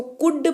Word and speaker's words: could: उच्चारण जो है वो एल का साइलेंट होता है, तो इसीलिए इसको कुड पढ़ते हैं, और इसका मतलब होता है सका सकी सके।